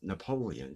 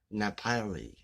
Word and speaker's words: Napoleon: i mean this woman doesn't know how to pronounce napoleon she says nepali napoli and when it comes